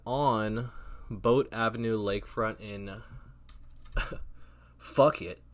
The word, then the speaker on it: Phuket: It is on Boat Avenue Lakefront in Phuket or Phuket. Phuket, I think is how you say it.